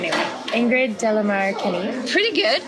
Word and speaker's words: De la Mare: Ingrid de la Mare Kenny. Pretty good. How do you say it? De la Mare, but that's De la Mare. French.